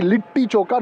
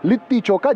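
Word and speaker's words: litti chokha: Pata has corrected that it has to be lit choka not lit choka just as I keep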